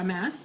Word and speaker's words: Amass: Yeah, Amass.